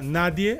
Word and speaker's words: nadie: No caso, a palavra nadie, a sílaba mais forte seria a inicial, na, e em português, ninguém, a sílaba mais forte também seria a final, gen.